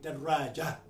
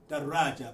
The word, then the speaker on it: دراجة: Now, by the way, in Arabic, sometimes you hear people say daraja, without pronouncing the ta marbuta. It is in the pronunciation when you stop. An Arab will stop on a sukun, daraja.